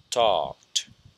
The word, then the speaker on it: talked: Therefore, the pronunciation of this verb is, or the ending, the ED ending is t. So we say talked.